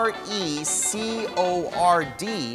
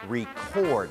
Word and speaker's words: record: dot and We Record ตะกี้ เขา บอก ว่า it starts to Record นะ ครับ จริง ๆ ต้อง ออก เสียง ว่า it starts to Record เพราะ ว่า คำ ว่า r e c o r d ใน ประโยค นี้ ก็ เป็น คำ กริยา นะ